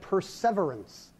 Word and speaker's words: perseverance: that on that time this word for hanging tough has the stress on the second syllable like it's about the Adam Scott TV show oh severance Shakespeare would have said perseverance oh not long after